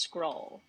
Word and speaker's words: Schrole: a hard time but the name comes from um two words together school and roll and so the is so it's it's pronounced scroll I win the bet